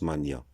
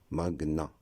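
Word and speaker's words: magnat: Beaucoup de personnes le prononcent Mania, comme dans le nom maniaque. C'est une prononciation fausse. La bonne prononciation, c'est Magna.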